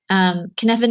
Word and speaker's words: Cynefin: And Kniffen itself means sort of those things that come together to make a place a place.